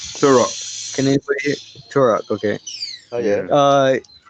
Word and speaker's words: Turok: T-U-R-O-K. Turok.